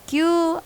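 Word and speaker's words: 九: Untuk Q dan Ju dibunyikan panjang.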